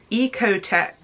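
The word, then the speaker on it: OEKO-TEX: contain harmful products eg oh ecotec certified i think that's how you say it o e k o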